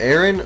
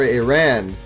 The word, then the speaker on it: Aaron: so he called me he's like is it Aaron or aan and my name is spelled a a r o n so like